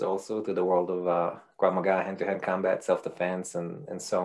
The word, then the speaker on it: Krav Maga: Krav Maga. Am I pronouncing that right? Mm-hmm. Yes, he's a Krav Maga guru, and currently he's got a very popular